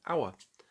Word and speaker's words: hour: It starts with H, but is a consonant, but we don't pronounce the H. We say hour.